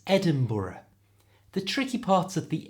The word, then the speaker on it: Edinburgh: which for some reason Americans really struggle to pronounce correctly it's Edinburgh the tricky parts of the end and it's pronounced with two schwar sounds brr BR so the whole thing is Edinburough you try Edinburgh and this is its national